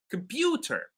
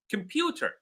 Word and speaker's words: computer: you will hear or you will notice that the word pew, that the syllable pew is louder. They say computer, computer.